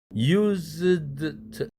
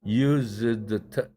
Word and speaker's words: used to: used to 여러분들 그대로 발음하면 used to 이렇게 될 거예요. 그런데 여기서 잘 보세요. used 할 때 드가 날라갔죠? 왜 날라갔나요? zd 자음 세 개의 자음이 겹쳤죠. 그런데 드와 트 사이에 낱말 경계가 있죠.